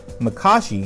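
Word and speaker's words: Makashi: the forms back to back here are my pronunciation form one Chacho form to Makka she formed three sorry sue or surest depending on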